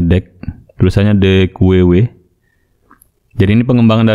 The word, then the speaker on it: deque: Atau dibaca dengan the queue, atau biasa juga disebutkan deck ya. Deck, kita bacanya deck.